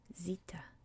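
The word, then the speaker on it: ζήτα: um so this is in english we would say um actually i don't know how i would say things should be zeta or zeta probably zeta in english i write my z's like that um but in greek it would be zita zita so what makes a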